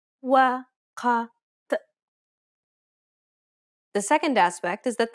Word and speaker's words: وقت: The first is that it's a unique sound that does not exist in many languages. Let's listen to how it's pronounced in the word time in Standard Arabic. وقت وقت The second aspect is